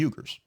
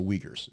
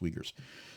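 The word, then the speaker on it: Uyghurs: or the treatment of the yuger the wegers I said Reddit because Reddit you read like that it's the wegers it's pronounced wegers so bad things that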